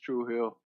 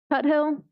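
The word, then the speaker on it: Tuthill: up in another loop Trill or did I say it right truhill Tut Hill Tut Hill like Tut Hill thank you I just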